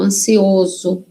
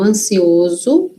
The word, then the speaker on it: ansioso: Então, ansioso, bondoso, olho, ovo. Quando é singular, tem som fechado, né? O. E quando vai para o plural, muda a pronúncia. Vira ó. Então, ansioso, singular.